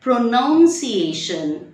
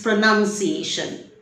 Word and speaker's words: pronunciation: So if you have said pronunciation, then it's wrong. It is pronunciation.